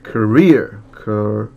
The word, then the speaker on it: career: Later in his career. 여기 뒤에 이음절의 발음 강세가 있네요, 그죠? career.